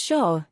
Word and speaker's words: Xia: influence Chinese thought and values the background the Shia Dynasty pronounced as Shaw is traditionally regarded as China's first dynasty existing